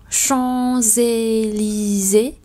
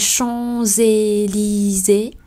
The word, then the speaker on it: Champs-Élysées: Ở đây có hai chữ S, nhưng đầu tiên là S mà đọc nối thì đọc là Z. Và Élysée không đọc Élysée, bởi vì xung quanh chữ S đó là hai nguyên âm Y dài và E.